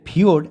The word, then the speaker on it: ফিয়োর্ড: কেন বললাম যে এটা আবারো উচ্চারণ করছি এটা ফিওড তো মাথায় রাখবে এই ফিওড একটা নর ওয়েজিও শব্দ কি বললাম নর ওয়ে জিও শব্দ এটা একটা নরয়েজীয় শব্দ এর অর্থ কি না